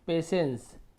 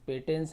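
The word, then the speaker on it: patience: इसे हम पढ़ते हैं पेशेंस पी ए टी आई पे इस टी आई है तो हम यहां पर स उच्चारण कर रहे हैं पेशेंस पेटेंस नहीं पढ़ रहे पेशेंस करते उच्चारण यानी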